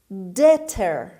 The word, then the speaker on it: debtor: Debtor. Debtor. Debtor. دقت کنید ما در کلمه حرف B رو داریم، اما همینطور که در آوانگاری میبینید و من هم تلفظ کردم ب تلفظ نمیشه.